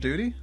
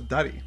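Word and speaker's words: Dutee: there to stop him it's pronounced duty what do you think it is i thought it was duddy for some reason but duty well cause duty yeah duty like duty to your country right well come on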